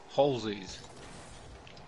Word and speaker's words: Halsey: No, Halsey's. It's pronounced Halsey.